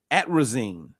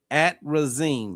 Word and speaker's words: atrazine: Um, and the other one I always I don't pronounce it, but I need to start saying it's it's at risine. Atrazine. Atrazine.